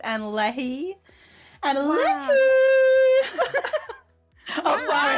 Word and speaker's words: Annalie: Yeah, we pronounce it Anna Leahy.